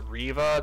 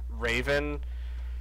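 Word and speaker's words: Reva: name is actually pronounced riva not raven so it's just raven but without an n so it's pronounced riva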